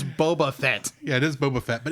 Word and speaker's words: Boba Fett: first appearance of uh as you call him Bubba Fett Boba Fett yes yes but that's not how you pronounced it earlier yes I I I have